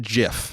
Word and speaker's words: GIF: yeah you say that that's how it's pronounced now it's it's gif but okay the man who created it calls it jiff it's out of his